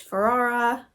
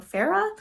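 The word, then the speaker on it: Farrah: will be reading cherish Ferrara pharah sorry I keep saying your name wrong Farah I'm gonna call her and um this book seems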